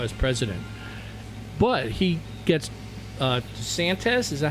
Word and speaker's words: DeSantis: But he gets DeSantis, is that how you say his name, from Florida? Governor? DeSantis.